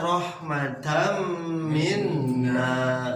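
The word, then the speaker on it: رحمةً منّا: Tapi kalau kita sudah mempelajari daripada idgham bigunnah, walaupun tidak ada tasdid, tetap dibacanya rahmatam minna, seperti itu.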